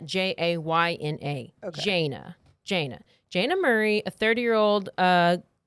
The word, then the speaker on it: Jayna: I say sometimes say Jana, but it's Jana, Jayna.